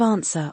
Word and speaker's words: answer: What about words with a silent W? Think of answer or right. The W is there but unheard.